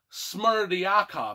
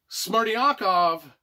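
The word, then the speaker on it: Smerdyakov: the fourth son is smart yakov i think i said that right it's spelled d y s-m-e-r-d-y-n k o v smarty akov he is the illegitimate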